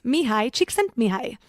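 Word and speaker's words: Mihaly Csikszentmihalyi: hard to pronounce and the spelling is completely different than the pronunciation. It's Mihai Csikszentmihalyi.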